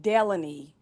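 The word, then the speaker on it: Delanie: it's pronounced Delaney, but it's spelled Melanie.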